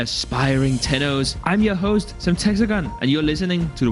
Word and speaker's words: Semtexagon: I'm your host, Semtexagon, and you're listening to the Warframe broadcast, bringing you the latest news of the Origin system. Speaking of, Semtexagon, it's pronounced Semtexagon, decided it would be